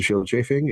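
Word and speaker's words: Scyld Scefing: Yes, you pronounce the C's like the SC like SH in this case.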